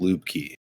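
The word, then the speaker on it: Lubke: where lubs came from my last name is spelled l BK and it's pronounced Lube key and pretty much all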